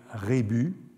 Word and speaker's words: rébus: on sait bien que on a toujours du mal avec regus sans savoir s'il faut prononcer le s ou s'il faut le laisser muet il y a tout un débat à ce sujet n'est-il pas plus exact de dire rébus en tout cas au